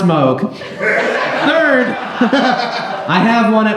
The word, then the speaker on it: Moog: it's first of all it's not a moo synthesizer secondly it's pronounced Moog third I have one